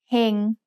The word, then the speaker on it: เฮง: Here's the word เฮง which means to be fortunate. Do you know the tone? เฮง has a low-class consonant with a live syllable ending, so it's mid-tone.